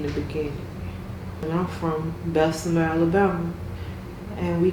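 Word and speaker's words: Bessemer: Even if it's not giving you instant money in the beginning and I'm from Bessma, Alabama and we call it big BMA. Well, BMA, you know, Belma BMA, but it's pronounced Bessma.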